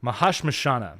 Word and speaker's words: Mahashmashana: It is I gotta pull the title up here to make sure that that I'm pronouncing it right, because it's an old Sanskrit word. Mahashmashana.